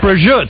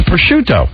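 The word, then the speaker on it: prosciutto: It's not brut, right? Yeah. No, no, no. That's a That's a little on the American side. It's pushuto.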